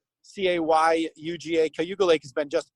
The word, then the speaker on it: Cayuga: and now even cayuga lake and hugo lake spelled with a c c-a-y-u-g-a cayuga lake has been just absolutely full of